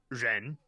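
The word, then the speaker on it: 人: wouldn't know from that that the character is pronounced Reen so that creates an issue because if you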